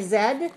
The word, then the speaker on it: Z: right okay very good in England people say Zed and America people say Z but it's the same letter now in the picture